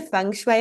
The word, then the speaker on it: feng shui: we're so excited to have you here and have your expertise here, because I feel like feng shui is, am I saying it right? Feng shui. Yeah, 100%.